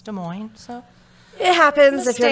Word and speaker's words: Des Moines: my bad i apologize some people not from iowa would probably say des moines and it's not it's des moines so it happens if